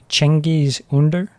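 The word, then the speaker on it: Cengiz Ünder: And then there's, I think it's pronounced Cengiz Under.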